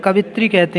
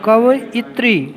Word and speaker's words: कवयित्री: लिए इसमें बच्चे यह बहुत से लोग गलती करते हैं कवित्री कहते हैं कवित्री नहीं है वहां पर यह की मात्रा नहीं है कवयित्री कवित्री लिए उच्चारण है